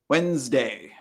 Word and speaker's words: Wednesday: So the D, the first D, is silent. It's not Wednesday. It's Wednesday. We don't really say that first D.